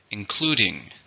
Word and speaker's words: including: label for include verb how many syllables are in include include two stress on the second syllable here's the sentence